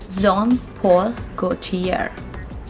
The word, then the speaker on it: Jean Paul Gaultier: gautier go to ye the pronunciation of this word is john it's not good here we are not going to pronounce the sound r over here it's zom paul gautier john paul go tear all right now this